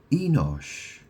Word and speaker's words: Enosh: So Seth um had a son and he named him Enosh which is spelled E N O S H.